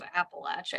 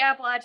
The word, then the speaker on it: Appalachia: and forth on this issue of how to pronounce this place we now call Appalachia. I say Appalachia. I went to Appalachian State. Some people say Appalachia. I don't really, you know, in Pennsylvania, it's very common to say Appalachia.